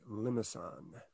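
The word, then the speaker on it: limaçon: And then the next ones are, it's a funny word, the C has this cedilla, has a little tail, meaning that the C should be pronounced as an S. It's a French word. I say limousin.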